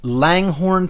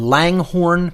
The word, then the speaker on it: Langhorne: free your mind three conference coming up in Langhorne Pennsylvania just outside of Philadelphia April 10th 11th